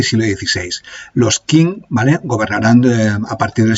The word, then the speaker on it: Qing: O lo voy a pronunciar a partir de ahora Qing porque me resulta más fácil, pero se ve que en chino se pronuncia de la primera forma que he dicho.